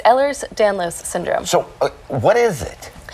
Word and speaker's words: Ehlers Danlos: How do you pronounce it? It's Ehlers Danlos Syndrome.